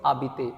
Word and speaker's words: habiter: The first verb is abbit. H A B I T E R.